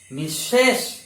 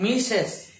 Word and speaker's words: misses: The pronunciation will be message, misses, not misses, message.